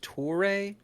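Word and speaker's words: Touré: So it's pronounced Toure?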